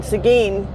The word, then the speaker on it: Seguin: picking up a load that i'm taking to seguin texas and it also is spelled differently than it's pronounced i mean seguin you would expect it to be spelled something like s-e-g-e and or whatever it's spelled s-e-g-u-i-n so i'm pretty sure seguin is named after